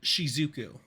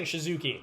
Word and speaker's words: Shizuku: Is it Shizuku or Shizuki? Um, I did have it in front of me. Oh, here we go. It is it it is Shizuku.